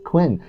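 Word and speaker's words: Qwen: very good uh alibaba's Quinn quen model uh qween is how you spell it there so it's another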